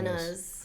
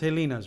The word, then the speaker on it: Helena's: You know it's Hands pronounced Helena's, right? No. I've Yeah. always said Helena's. Yeah, it's Helena's. Why? So I just shot a thing with them, and the owners, the family, all call it Helena's. Okay. Oh my So God, I've never Helen, heard them call it yeah, Helena. Because Helen, the Hawaiian pronunciation, No, listen to Kamehameha this. schools, is Helena's.